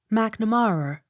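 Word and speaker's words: Macnamara: l-y-v-e-d-o-n livedon m-a-c-n-a-m-a-r-a mcnamara accent on third syllable m a i n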